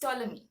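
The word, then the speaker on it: Ptolemy: e m y so the p in that word is silent it is toi okay so let's look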